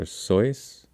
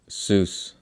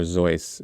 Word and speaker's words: Seuss: mispronounce his name um his name is dr soyuz uh people often pronounce it dr seuss um yeah dr seuss or dr zoice is the correct pronunciation one way to remember